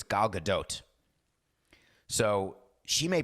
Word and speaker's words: Gal Gadot: and I read Hebrew, and in Hebrew it's Gal Gadot. So she may pronounce her name Gal Gadot, but definitely not Gal Gadot.